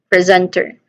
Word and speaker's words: presenter: Pronunciation wise, let's start with the first syllable, pre. Pre. So there's a short vowel sound here, then followed by a buzzing sound with a buzzing sound. Zen. Okay, zen. This is second syllable carries the primary stress and sounds like zen with a short s sound.